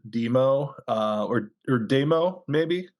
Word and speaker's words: Dëmoe: I think I would you would probably still pronounce it demo uh or or demo